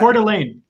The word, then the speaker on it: Coeur d'Alene: How do you pronounce that? What is that? Coeur d'Alene.